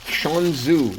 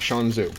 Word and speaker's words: Shan Zu: Shanzu, I think is how you say it, Shanzu.